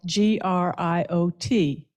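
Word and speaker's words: griot: it's Grio which is spelled g-r-i-o-t but pronounced Grio I'm pleased to introduce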